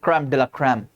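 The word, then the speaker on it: crème de la crème: हां हमारे सबसे अच्छे डॉक्टर्स सबसे बेस्ट ऑफ़ द बेस्ट जैसा मैंने कहा ना क्रम डला क्रम क्रम डेला क्रम ऐसे लिखते हैं क्रम डे ला क्रम अह ठीक है।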